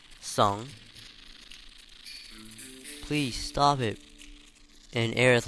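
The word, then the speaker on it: Tseng: I always used to pronounce it as Sing, but crisis score, Song.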